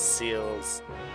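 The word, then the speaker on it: Celes: Narshe is Narshe, Celis is Seals, Ga is Gao over Ga.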